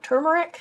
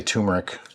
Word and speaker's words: turmeric: 1 4 teaspoon turmeric I always say it wrong turmeric I say turmeric one fourth of a